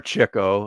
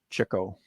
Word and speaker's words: Chico: To quote Chico, or Chico, as it's pronounced for the actual Marx brother. Chico.